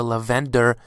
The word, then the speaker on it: Lavenda: be able to see lavenda or lavender as many people tend to pronounce him now because you know some spoilers for episode 80 were released and they were calling him lavender I call him lavenda it's bit more easy for me to pronounce if you want to call him lavender you can go ahead and do so but I call him lenda personally you know there really is no correct way to say him or call